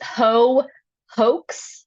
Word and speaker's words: Heaux: It's Shannon said with an underscore in the middle on Twitter, and on Instagram it's hoax. The ho is spelled Heaux.